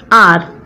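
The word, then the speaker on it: hour: For example, an R. Here the pronunciation of the word, it is R.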